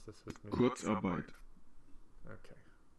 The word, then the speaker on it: Kurzarbeit: Thanks for learning how to pronounce this with me. Kurzarbeit.